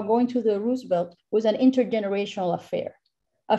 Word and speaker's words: Roosevelt: On September 30, 2021, the 73-year-old Cine Roosevelt, and I use the Puerto Rican pronunciation for Roosevelt, located in the Eleanor